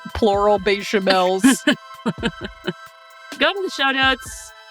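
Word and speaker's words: béchamel: It's bechamel. Oh, yeah, bechamels. Bad. Or good. I like how you put an S, like plural bechamels.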